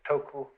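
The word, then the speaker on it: 徳: this word death uh the Japanese pronounce it toku the Cantonese duck and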